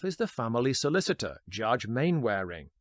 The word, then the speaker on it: Mainwaring: Karloff is the family solicitor, Judge Mainwaring, pronounced as spelt here rather than the English Mannering, as in British sitcom Dad's Army.